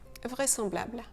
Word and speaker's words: vraisemblable: Dans ce cas, le S devrait vraiment se prononcer ZE, mais on prononce SE. Vraisemblable.